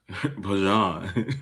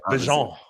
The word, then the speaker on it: Bijan: Bijan. Yeah, Bijan. And so you just got to go French.